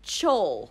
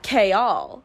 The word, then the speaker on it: Chaol: chaol is another name it's spelled c-h-a-o-l I the entire time pronounced it chol Cole not k-all that was nowhere in my brain so K all